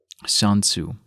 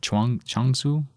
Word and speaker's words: Chuang-Tzu: The ancient Chinese sage Sun Tzu, from 369 to 286, wrote, and I think I butchered that name, it's Chuang-Tzu, yeah.